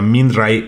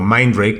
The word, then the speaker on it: Mindray: Eh, el otro día una marca, por cierto, china e que que se llama Minay o Mindray, como lo quieran pronunciar ustedes, e me invitó a su showroom.